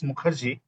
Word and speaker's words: Mukherjee: My surname is difficult to pronounce. It's Mukherjee.